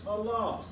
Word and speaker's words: Allah: this no matter what language you speak it's pronounced Allah como esta usted Allah to bring conceit ways